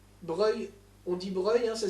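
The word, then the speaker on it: Broglie: compromis qui sont faits par le duc de breuil breuil on dit bruyant ça s'écrit brebis mais andy bons rails ne soyez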